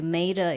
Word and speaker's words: Maida: I think I don't know if much has changed, but that's what it's called, and it's pronounced correctly, Maida, even though it's spelled Yes. M-A-I.